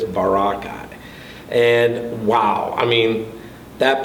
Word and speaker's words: Boracay: to the island of boracay i was saying it wrong i'm saying very pittsburgh east before boracay i was phonetically doing it but it's barakai and wow i mean